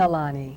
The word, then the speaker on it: Nalani: Pronounce your Nalani.